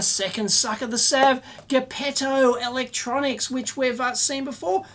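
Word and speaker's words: Geppetto: been pronouncing it wrong it's a soft G GTO like Pinocchio's maker thank you very much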